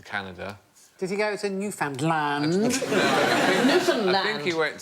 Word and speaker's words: Newfoundland: Newfoundland is the correct pronunciation, and in 1876 a man was killed during a brawl over the correct pronunciation.